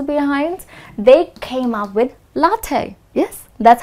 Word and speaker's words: latte: were the Americans behind they came up with latte yes that's how you pronounce it latte all right now how is this different this